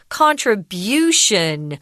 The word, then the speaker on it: contribution: give something whatever that is contribute but we pronounce the noun form contribution with the jogging or the strong syllable and